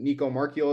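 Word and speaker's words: Nico Marchiol: seen a whole lot of um was it Nico marchio is that how you say his name yes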